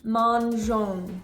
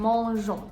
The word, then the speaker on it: mangeons: In the word mangeons, you have 2 nasal sounds. You have the en and the on. You can hear that you're not pronouncing the N consonant. You're not saying mangeons. No, no, no. You're saying mangeons.